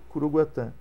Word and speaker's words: Curuguaty: observador brasileiro do caso cugat escreve coruguati mas a pronúncia é em Guarani que tem 12 vogais cugat curuguaty tenho dois filhos Mateus